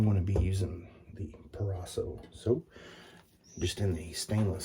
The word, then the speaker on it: Proraso: using some pre-shave by proraso i always want to say perraso but you guys know what i'm talking about if i say it